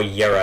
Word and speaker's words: Jera: Hey, I got Jera right at least. Or Yera as it's actually pronounced.